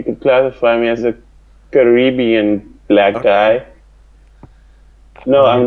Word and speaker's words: Caribbean: okay okay that works that works I've never pronounced it Caribbean Caribbean is how I do it yeah Caribbean caribbian it's funny how uh me me and Caitlyn